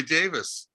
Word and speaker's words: Davies: all the time obviously how about ray davies he says my name is ray davis yeah they don't do ray davies in england someone had asked when